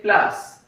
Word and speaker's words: place: In English we say place but in French we say plus.